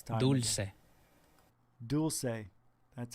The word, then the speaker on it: Dulce: Dulce. That's how you pronounce it.